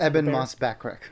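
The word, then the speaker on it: Ebon Moss-Bachrach: Eban Moss backreck.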